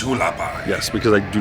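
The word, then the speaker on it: Hualapai: To the side, they have, and I'm going to mispronounce this, so I'm going to do an insert now. Hulapai, Shane, it's Hulapai.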